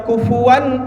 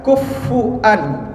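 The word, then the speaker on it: كُفُوًا: Nah, kufur kalau kita bacanya kufuwan ahad, tapi ada imam imam yang lain bacanya kufuan, kufan ahad.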